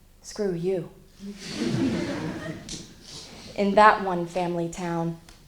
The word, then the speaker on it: Skurtu: screw to looking that cop and the I dad said that's not how you pronounce it my name is mr. screw you in that one family town no one loses a name unlike mr.